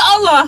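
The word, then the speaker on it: الله: Jadi kosakata Allah itu kalau diawali dengan fathah dan domah dalam bahasa Arab itu dibaca tebal gitu. Tapi kalau diawali dengan kasrah dia tipis bacanya.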